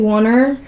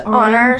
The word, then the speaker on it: Oner: sorry Lexi and I got in the habit of saying Warner before we knew it was pronounced honor so it just stuck